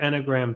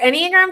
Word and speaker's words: enneagram: story but what was her anagram type her enneagram type was a word i keep on pronouncing that any other way it's okay if you